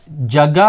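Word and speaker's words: جگہ: ஜகே பர், ஜகா என்று எழுதுவோம், ஜகே என்று வாசிப்போம். காரணம், இந்த பர் என்ற இடைச்சொல் வந்திருப்பதனால்.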